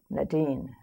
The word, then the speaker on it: Nadine: uh my my comrade said Nadine it rhymes with sardine we're going to call